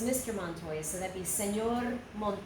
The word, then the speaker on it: Montoya: very common name in English you have said Montoya but in Spanish Montoya Montoya and it says mr. Montoya so that'd be señor monk boy yeah whether